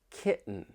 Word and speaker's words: kitten: words right here and just listen for that glottal T when I say Mountain certain kitten the The Sounds coming from your throat waitting wait and see I I want you to try to listen for that glottal te just wait and see